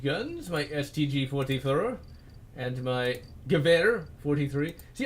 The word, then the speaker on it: Gewehr: my STG-44, and my Gewehr 43. See, I know how to pronounce a lot of these words, actually. Because like, I know V's, no W's or V's in German.